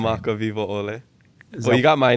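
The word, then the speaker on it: Kamakawiwoʻole: Kamaka Vivo Ole. Well, you got my name, Kamaka. And then Vivo Ole. Kamaka Vivo Ole.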